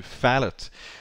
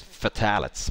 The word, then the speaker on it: phthalate: uh uploading now and i've actually believed it was fatalets but i guess that was wrong now a phallic is